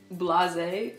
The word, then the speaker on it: blasé: Quand t'es blasé, c'est genre t'es genre je suis trop blasé, t'es un peu genre dégoûté, t'es un peu. Oui, en fait je pense que c'est la même aux États-Unis, mais ça se prononce blasé.